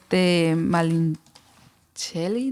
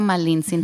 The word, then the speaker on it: Malintzin: Malincheli, ¿no lo estoy pronunciando bien? Malintzin.